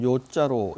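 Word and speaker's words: 樂: 어 즐거울 낙자인데이 즐거울 낙자가 뭘 좋아하다 이럴 때는 요자라고 읽죠. 요산 요수 뭐 산을 좋아하고 물을 좋아한다 할 때 뭐 이게 요자로 익죠. 어 그 그래서 여기서는 요자로 읽습니다.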